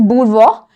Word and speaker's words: bourgeois: Bourgeois. Okay, yes, it's pronounced as bourgeois.